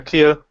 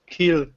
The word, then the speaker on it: Kiel: Yeah, Kiel. Kiel. With an L at the end.